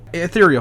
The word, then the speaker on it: Ethereal: a different name called and I hope I'm pronouncing this right called e eal how eal ethereal thank you how how did you guys come